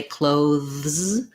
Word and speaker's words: clothes: speakers don't always say clothes so it's a voiced th voice th sound and a z sound um this o does say o so chloe clothes uh what you want